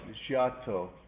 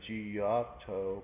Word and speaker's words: Giotto: This is by the artist Giotto. Some people say Giotto, but they say Giotto.